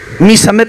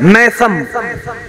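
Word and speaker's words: ميثم: एक प्रोनंसिएशन होता है हमारा प्रोनाउंस होता है लाइक मैसम मीम फत के साथ जबर के साथ ये गलत प्रसन है ल सही प्रोशन क्या है मीसम ठीक है ना क्या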